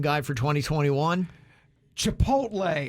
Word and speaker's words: Chipotle: Chipotle is how I've always heard it said. Chipotle. Chipotle. Chipotle. I'm going to give you credit on that. Or Chantoodle. Chipotle. Yeah. Chartoodle. Chipotle. Yeah. Chipotle. Chipotle. All right. That's correct.